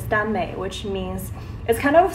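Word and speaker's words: 耽美: So if you don't know what that is, the proper, I guess, Chinese pronunciation is Danmei, which means it kind of stems from boys BL novels from Japan, which is like boys love.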